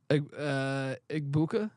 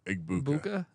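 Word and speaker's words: Egbuka: Igbuka. Yeah. Okay. Igbuka.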